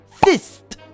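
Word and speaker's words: Fizt: What they came up with is a program called Fist. And yes, I pronounced and spelled that correctly.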